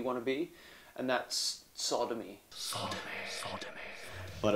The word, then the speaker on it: Tsodomi: to be and that's sodomy Sodom but it was spelled with a t it was a silent T and yeah so you'd expect to start with an S given the sound of a word but when he put